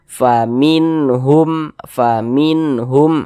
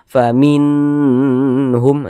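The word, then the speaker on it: فمنهم: Faminhum pendek, jangan dibaca faminhum, jangan dipanjangkan seperti itu, jangan, baca pendek saja.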